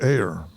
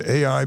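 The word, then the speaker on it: A.I.: familiar with the name AI as an AI mcnell it's capital A little I and it's pronounced just like the two letters George M Balch was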